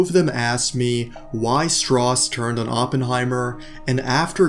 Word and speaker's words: Strauss: The reason why Louis Strauss, yes, Strauss is how you say it, hates Oppenheimer can be noticed throughout the movie time and time again.